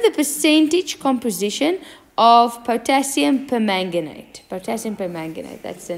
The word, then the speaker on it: permanganate: the ask determine the percentage composition of potassium permanganate potassium permanganate that's the name say it again potassium per manganate it is a purple Crystal potassium per manga Knight exactly like you um pronounce it you spell